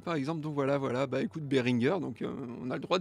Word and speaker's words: Behringer: celui d'Antinéa qui dit Behringer c'est allemand et le G se prononce comme dans Game ou dans Crad, dans Gamme plutôt, dans Game, n'importe quoi. Bref, à mi-chemin entre le G et le K, mais pas comme Georges ou Gentil par exemple.